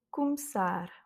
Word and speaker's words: começar: Começar. Le R en dernière lettre, donc c'est la dernière voyelle qui a l'accent tonique.